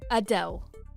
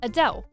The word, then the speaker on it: Adele: This Adele likes her name pronounced as Adele, as opposed to how most people would say it, Adele.